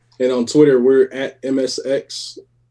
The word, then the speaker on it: MSX: So it's pronounced, we just call it MSX.